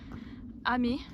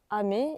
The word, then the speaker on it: Amen: direction du village de amé alors ça s'écrit amen mais il paraît que ça se dit amé je connais pas du